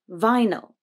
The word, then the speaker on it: vinyl: In vinyl, the first syllable is stressed, vi, but the second is unstressed, so the y becomes a schwa, no, vinyl, vinyl.